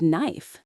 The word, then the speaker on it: knife: Like knife. That K is silent.